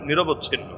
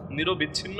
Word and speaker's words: নিরবচ্ছিন্ন: এমন ঝঞ্জাবায়ু আল্লাহতালা এমন ঝঞ্জাবায়ু পাঠালেন যেটা সাত রাত আট দিন সাত রাত আট দিন পর্যন্ত টানা চলল মানে নিরবচ্ছিন্ন নিরবিচ্ছিন্ন বলে অনেকে মূল উচ্চারণ নিরবচ্ছিন্ন অবস্থা এমন হলো তার